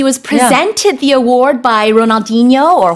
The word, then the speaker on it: Ronaldinho: He was presented the award by Ronaldinho or Ronaldinho, if you want to use the correct pronunciation.